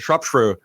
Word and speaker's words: Shropshire: Shropshire.